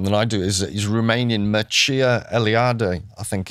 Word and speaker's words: Mircea Eliade: He's Romanian, Mircea Eliade, I think it's pronounced.